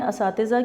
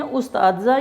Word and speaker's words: اساتذہ: اگر لکھ ٹھیک بھی دیں تو بولتے ہیں استاذہ. یہ لفظ استاذہ نہیں ہے بلکہ یہ لفظ ہے اساتذہ.